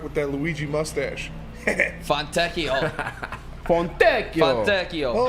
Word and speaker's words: Fontecchio: Fontecchio.